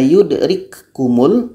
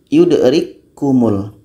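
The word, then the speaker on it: يدرككم: ini sifatnya berangin yudrik kalau kita baca yudrik kumul maka belum terjadi am Kamil karena sifatnya masih terbaca masih terdengar k beranginnya jadi cara baca yang betul adalah k yang pertama masuk kepada k yang kedua kita baca takum yangangeng sudah masuk kepada k yang kedua yudrik kumul yudrik kumul kategori yang keempat ialah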